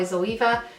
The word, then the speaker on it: Zoeva: my cheek crease by zoeva and all some people say zoeva I I think it's just in Ireland we pronounce it Eva that's why I'm going with that m23 one this is